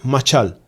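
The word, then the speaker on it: משל: Sí, hay la la pronunciación es machal, pero la definición es gobernar, o sea, un gobernante.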